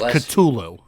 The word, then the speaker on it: Cthulhu: just so people know we're technically pronouncing it wrong I don't want anybody to get on us for it technically no what the was that apparently technically it is katulo two Loop there's a